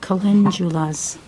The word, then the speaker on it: calendulas: I know that Julie wasn't sure how to pronounce that flower, but it's pronounced calendulas.